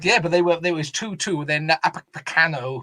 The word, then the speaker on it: Upamecano: Then Upamecano, who I can never say properly, I think that's how you say it.